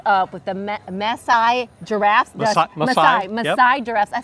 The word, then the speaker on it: Maasai: Maasai Giraffes.